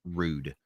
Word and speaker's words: Roode: last name in Germany it's pronounced rude so I am in